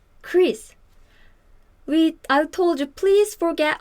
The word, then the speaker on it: Chris: For example, this CH is actually this in Korean, but this sound is ch, ch. But this sound is more like K, right?